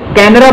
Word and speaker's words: Canara: तो यूरोपियन लोगों ने उस वर्ड को कन्नड़ा की बजाय कैनरा बोलना शुरू किया, यानी कि डी को वो आर प्रोनाउंस करते थे, तो उन्होंने कैनरा वर्ड बोलना शुरू कर दिया और